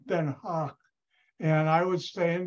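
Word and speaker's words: Den Haag: it's called Crowder and I would stay in the hay which in the Netherlands is not called the hay it's called then Hawk and I would stay in that Hawk and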